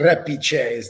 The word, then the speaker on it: Repice: what's your last name how do you pronounce it repeat how you would actually yeah it's been mispronounced